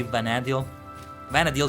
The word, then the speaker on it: Vana'diel: a vanad though vanad vanad vanad vanad is how is pronounced mostly right for some reason I'm more compelled to say vanad vadil sounds a lot better to me and